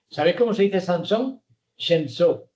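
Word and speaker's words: שמשון: Shemso.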